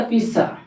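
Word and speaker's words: pizza: चलो पिज़्ज़ा खाने चलेंगे पिज़्ज़ा नहीं पीस होता है ध्यान रखें इसी तरह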